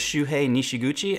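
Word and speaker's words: Shuhei Nishiguchi: the moment while still being classic next is shoe hey nishiguchi and I know I pronounced that right because in college I did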